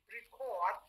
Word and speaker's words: record: Record, yeah, record, not record or record. So you can see you stress the second syllable.